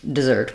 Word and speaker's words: dessert: has the I sound the stress is on the zert syllable um it's just doesn't